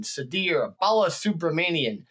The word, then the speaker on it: Sudhir Balasubramanian: today Bal excuse me Sadir I'll say it again Sadir Bala subramanian I had to practice